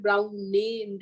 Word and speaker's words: Browne: Then okay, is this any difference between speaking difference, pronunciation difference, brown and brown NE? No, it's brown, brown.